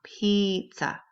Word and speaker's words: pizza: both have the e even though the word pizza is spelled with an i it is pronounced with an e sound pizza number four table table